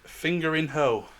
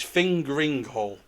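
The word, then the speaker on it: Fingringhoe: It's fingering hole. So it's Fingering not hoe. fingering hole, it's fingering hole.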